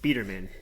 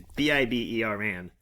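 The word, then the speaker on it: Biberman: I also want to put out that I'm saying it wrong. I kept hearing Biederman. It's Bieberman. It's Biber man.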